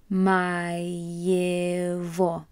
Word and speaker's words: моего: Для сына моего. Notice that those G's are actually getting pronounced as a V sound.